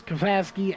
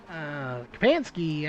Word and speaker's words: Kapansky: As right now it's Kapasky out front. Kapansky, actually, I believe is how you say it, out front leading this race.